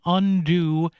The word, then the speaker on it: Undue: national nonprofit organization called Undo Medical Debt. Now, it's spelled UNDUE, like the debt is undue, or or is undue when they want to undo it. So you UNDO the UNDUE.